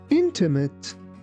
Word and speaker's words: intimate: Here be careful not to pronounce this word like intimate. It's intimate. Intimate.